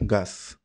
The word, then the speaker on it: chaos: Van Helmont aplicó a los vapores el nombre de chaos, que pronunciado con la fonética flamenca se escucha gas.